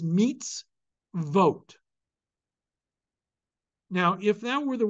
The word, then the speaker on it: mitzvot: you have another syllable syllables in Hebrew must always begin with a consonantal sound so therefore perforce it is meets vote now if that were